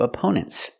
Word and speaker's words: opponent: The first syllable is a relaxed sound like cup and up. Opponent. The stress is on the second syllable.